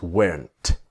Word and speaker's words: weren't: was not to wasn't where not is weren't but of course the t is silent now this is the